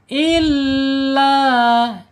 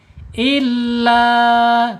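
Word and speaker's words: إلا: Penekanan di huruf lam jangan lupa lamnya dibaca panjang karena lam fathahnya menghadapi a alif. Nama hukumnya mad thabi'i atau mad asli. panjangnya dua harakat, satu alif atau dua ketukan. Illa itu dua ketukan saja.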